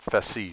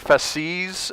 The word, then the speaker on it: fasces: I believe you pronounce it fasces.